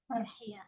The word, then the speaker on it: Farhiya: How do you pronounce your name? Farhiya.